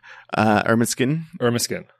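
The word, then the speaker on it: Ermineskin: Irminskin Cree Nation.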